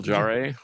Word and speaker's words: Jarre: Jean Miguel Jarre. Yeah. Yep. That's what I said. Um I'm not sure if the Jay and Jarre is Jar or how you do it, but in any case, Michael Jerry.